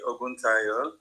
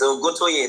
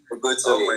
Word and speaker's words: Oguntoye: It's Oguntoye, not Oguntayo. Did I say Oguntayo? Yes, you actually said I'm sorry, Oguntoye. Oguntoye, yes.